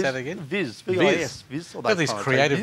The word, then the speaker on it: Vis: Viz.